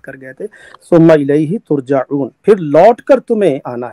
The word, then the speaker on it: ترجعون: یہ لفظ ترجعون میرے خیال آپ کا تلفظ کوئی آپ غلط کر گئے تھے. ثم الیہ ترجعون، پھر لوٹ کر تمہیں آنا ہے.